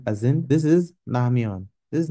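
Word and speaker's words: 라면: But it's not R. It's Namyon. It's not Lamyon, it's not Ramyon, it's Namyon.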